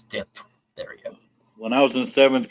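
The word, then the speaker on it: diphtheria: e r i a it's not Dipa it's D therea when I was in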